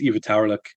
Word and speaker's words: Ivitauerlik: And how you say char, red char in Inuktitut, the Inuit language, is Ivitauerlik. So you were asking about that word you couldn't pronounce. It's Ivitauerlik, which just means red char.